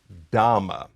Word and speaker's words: dhamma: For example, you may hear me say dharma, and then in another context I will say dhamma. That difference is deliberate. Dharma is a Sanskrit term.